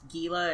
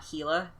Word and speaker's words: Gila: the basement for demons are we sure it's pronounced Gila and not heila he's he's a he's just a heila monster ah I didn't know